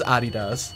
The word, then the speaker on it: Adidas: brand so weird like we say adidas rest of the world says Adi does I did Asya we